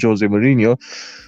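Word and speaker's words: José Mourinho: Like with Jose, or with Jose, I should say, that's how you properly pronounce his name, Jose Mourinho.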